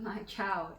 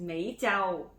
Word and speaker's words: My Chau: It's not My Chau. It's Mei Chau.